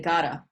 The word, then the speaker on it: gotta: We don't tend to pronounce the 2 T's in English. We say gotta. It's almost like a D, but it's much lighter because it's not behind the teeth that you're hitting your tongue.